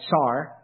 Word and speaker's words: czar: though what they said the way they said it was more like tsar but the point is